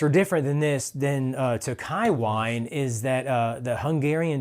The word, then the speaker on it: Tokaji: Tokai. Yes. Yeah, spelled Tokaji, Tokaji. Yeah.